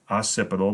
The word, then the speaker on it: occipital: occipital bone back here it is pronounced occipital the double c kind of makes an s sound you can maybe describe